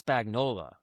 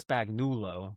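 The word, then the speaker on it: Spagnuolo: It's Spagnola, not Spagnulo or something else.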